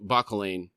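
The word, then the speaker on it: Bauchelain: You and the one named Bakolain." That's how Erikson actually pronounces it. I've been saying it wrong this whole time.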